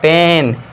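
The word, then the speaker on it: pain: पेन थोड़ा सा long खींचना है। पेन नहीं करना। पी इ एन तो पेन हो जाएगा। लेकिन पी ए आई एन आई ए आई एन है तो पेन पढ़ना है।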